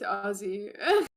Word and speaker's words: Aussie: just yeah rain's right there's no s in it it's ozzy honestly kind of better for me because i have a lisp kind of works out better ozzy it's spelled that way but it's pronounced ozzy and it's like i